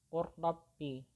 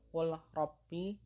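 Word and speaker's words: قل رب: Jadi membacanya adalah qurrabbi, bukan qul rabbi tapi qurrabbi, langsung dimasukkan ke huruf ra-nya.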